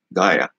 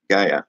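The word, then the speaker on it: Gaea: According to the Larousse Encyclopedia of Mythology, Gaia, they spell it G-A-E-A, that's what I'm pronouncing it, Gaia, not Gaia, however, would not resign herself to the defeat of her children.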